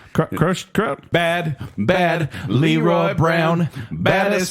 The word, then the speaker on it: Croce: he up against versus how do you say his name crochet Jim Croce crochet Bad Bad Leroy Brown